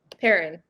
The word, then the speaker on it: Perrin: But yeah, Jay, how do you pronounce his last name? Perrin? Perrin. I'm assuming that's a family name. That's how we pronounce it.